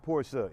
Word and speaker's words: Porsche: But Porsche is the correct title, or should I say correct pronunciation for this. So it is a Porsche, not a Porsche, for those that thought it was Porsche because you hear everybody else saying Porsche. It's not what it is.